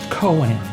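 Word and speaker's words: koan: K O A N is pronounced Coen.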